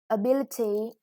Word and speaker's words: ability: so I skip that ability the stress is on the second syllable it is what you